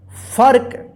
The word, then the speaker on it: फर्क: रेफ की मात्रा है, तो इस रेफ की मात्रा जो है ना फ के बाद आधा र उच्चारण होगा। ठीक है, फर्क।